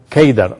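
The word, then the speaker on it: قيدار: de seda en árabe la palabra seda se pronuncia geither o se escribe keidar es a través de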